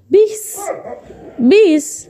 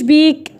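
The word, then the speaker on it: piece: ليه ما قلتش بيك؟ والله يا دكتور الدكتور قالت لنا ان السي جاي هنا بعدها ايه، والاي دي بتخليها تنطق سين. ما بنطقهاش انا سي، ما بنطقهاش كاف، بنطقها سي. فل.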